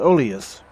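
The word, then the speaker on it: Oelias: Stand back, Oeilas! That's how it's pronounced, Oeilas.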